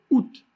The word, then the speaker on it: août: Alors on a deux voyelles qui se suivent, le A et le OU, mais ils ne sont pas prononcés séparément. On va dire août.